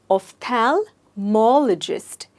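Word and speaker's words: ophthalmologist: ऑन the syllable सो इस शब्द में स्ट्रेस है ऑफ थैल मजिस्ट आईल से इट वंस अगेन ऑफ थल मोल जिस्ट वैसे ऑफल मलज कौन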